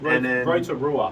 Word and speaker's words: Rotorua: We went to a place called, I'm going to butcher the pronunciation, a place called Rotorua, I believe. Rotorua.